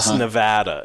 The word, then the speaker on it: Nevada: We don't call it, it's Oregon. It's not Oregon, or it's Nevada.